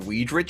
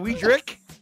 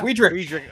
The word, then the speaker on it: Weedrick: I've known you for 3 years, and you pronounce it Weedrich still? What is it? Is it Weedrick? Yes, yeah. Weedrick.